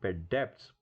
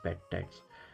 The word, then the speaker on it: debts: this in this one the spell is d-e-b-t-s but this B is silent sometimes B people call it bed depths but that is basically wrong it is bad tax but that's mean debts